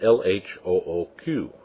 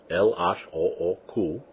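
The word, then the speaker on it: L.H.O.O.Q.: If you were to pronounce them in French, LHOOQ, it sounds like you're saying complete words rather than just spouting off letters.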